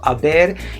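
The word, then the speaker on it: haber: bear so we do not say so this is silent age guys all right so aber is an auxiliary verb which means like has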